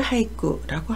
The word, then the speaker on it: 俳句: 5, 7, 5의 39, 17자로 이루어진 일본의 고유의 단시를 나타내는데 이것을 하이쿠라고 합니다.